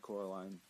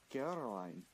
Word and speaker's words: Coraline: They kept saying Coraline. Not Caroline. Not Caroline at all.